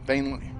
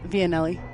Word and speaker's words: Vianelli: Vainly. Okay. Vianelli. Huh? Vianelli is how she pronounced it.